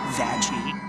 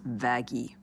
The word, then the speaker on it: Vaggie: It's why I named you after the best thing ever, Vaggie. Actually, it's pronounced Vaggy.